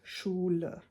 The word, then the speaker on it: Schule: And if it's at the end of a word, it's pronounced more like uh.